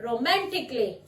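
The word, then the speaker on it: romantically: Next रोमांटिकली, रोमांटिकली नहीं बोलेंगे, अ का साउंड साइलेंट हो जाएगा।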